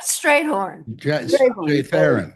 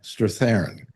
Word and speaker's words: Strathairn: David Strayhorn. Strathairn. Yeah. How you pronounce it?